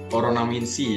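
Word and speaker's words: オロナミンC: Dan next, ini ada, ini dibacanya ini Oronaminsi ya, ini udah sering juga kita lihat ya, mungkin ada iklannya juga di televisi, Oronaminsi gitu, dan ini juga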